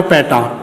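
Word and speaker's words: peta: और इसको प्रोनाउंस करना हमने पैटा, पैटा इस तरह से।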